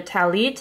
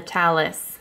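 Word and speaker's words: טַלִּית: s here they call it instead of a talit they call the talis this was actually the sitter that i used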